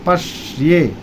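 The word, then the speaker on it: পশ্য: नहीं पश्य पश पर बलाघात लगाएंगे पटक के बोलेंगे। पश ये पश्य इस तरह बोलेंगे।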